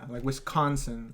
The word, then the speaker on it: Wisconsin: Apparently we really pronounce the con. Yeah, Wisconsin.